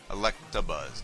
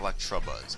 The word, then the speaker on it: Electabuzz: have early with Electabuzz Electabuzz not electrobuzz I keep saying that even though as a kid I've always said that but it was not the correct pronunciation for this Pokemon so let me just